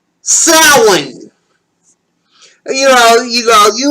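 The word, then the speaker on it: Samhain: Today for our first topic I'm going to spell it out for you. S A M H A I N also pronounced sin.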